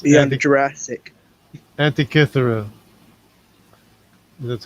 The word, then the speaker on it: Antikythera: Antikythera. That's how Oh you yeah, pronounce it.